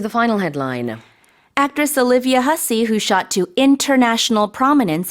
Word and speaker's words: Hussey: Right, let's talk about the actress Olivia Hussey. In Olivia Korea, we say Hasse, but it's a different pronunciation.